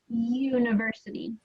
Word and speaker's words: University: there are some exceptions so University what sound does that have at the beginning a y u right yeah it has U uhuh but starts with that it kind of sounds like a y like y University it's not is is the letter know the s yes that's correct it's more the sound than what you actually see yeah it's more the